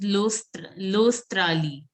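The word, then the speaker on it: L'Australie: Now, this is Lostrali. AU is pronounced as O. O. O. So it is Australi.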